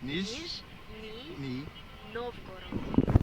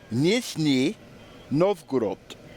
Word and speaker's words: Nizhny Novgorod: Nizhny Novgorod. Okay, so one more attempt. Nizhny Novgorod.